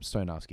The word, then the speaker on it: Stoyanovsky: be like Krasilnikov and how do you say his partner's name? Stoyanovsky. Okay, no, I was messing it up. Stoyanovsky. That one's an easy one.